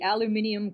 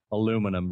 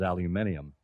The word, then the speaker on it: aluminium: What is the aluminium crutch? You even pronounced it correctly. You got to put that extra syllable.